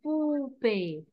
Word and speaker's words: poupée: Le O-U, je le prononce OU. OU. Poupée.